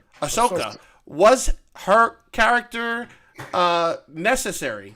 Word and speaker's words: Ahsoka: question for you was ashoka is that that's how we say her name ashoka was her character uh